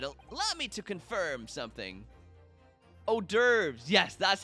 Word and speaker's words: hors d'oeuvres: for miss lestridge allow me to confirm something hors d'oeuvres yes that's how you pronounce it thank you coco you claimed earlier